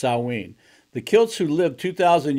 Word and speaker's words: Samhain: ancient Celtic festival of Samhain pronounced salween the kilts who lived